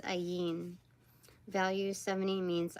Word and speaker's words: Ayin: Oh, it's pronounced Ayin.